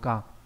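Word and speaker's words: 果: Hatashite là một cái phó từ, nó mang nghĩa là thực sự, nó đi với daro ka. Âm onyomi của chữ này là ka, trong từ kịch ka nghĩa là kết quả.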